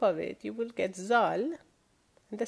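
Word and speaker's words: ز: If you put one dot on top of it, however, you will get Z, another equivalent of Z in English.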